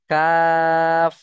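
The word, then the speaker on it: قاف: জীবটা এইভাবে গিয়ে মিশবে কাফ। কাফ। তাহলে কফ আর কাফের মাখরাজ আপনাদের মুখস্ত করে সাপোর্ট এডমিনে শুনিয়ে দিতে হবে। আশা করি এই দুটো মাখরাজ ক্লিয়ার। তাহলে কফ উচ্চারণ হয় জীবের গোড়া এবং উপরের তালু।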